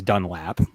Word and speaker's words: Dunlap: someone wants to remind us that it's dunlap which they're correct i think that that's part of our buffalonian accent um appreciate you yeah i appreciate you um i'm usually pretty good with my pronunciations and enunciations but sometimes that l that hard a that o um confuses all of us here in in western new